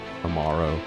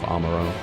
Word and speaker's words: Amaro: I shall ready the Amoro for departure at once. I might go back to pronouncing it as Amaro instead of Amoro.